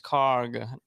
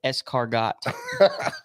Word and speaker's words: escargot: here which one that one it's car it's cargo what escargot good job man that's when a snail tries